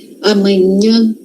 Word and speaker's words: amanhã: Qual o som do nh? Nh. Nh nh nh. A língua vai lá no céu da boca. Nh. Tá. Amanhã.